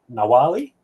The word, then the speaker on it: Nawalli: already said this behind the stage, but my pronunciation is terrible. But I'm going to attempt Nawalli.